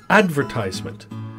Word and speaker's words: advertisement: You know, a really interesting one is the word advertisement.